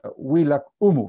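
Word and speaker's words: Willaq Umu: era de los españoles decían el bilahoma no pero garcilaso ahí dice en realidad se pronuncia huila humo no como dice garcilaso y hay que creerle garcilaso porque él hablaba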